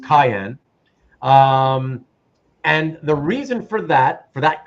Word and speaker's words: cyan: a type of blue, like cyan, or actually it's actually supposed to be pronounced cayenne.